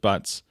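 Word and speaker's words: Butz: But in college, I did try to get people to call me my last name, go by Boots instead of Butts. We were raised pronouncing it Butts, but we found this newspaper clipping.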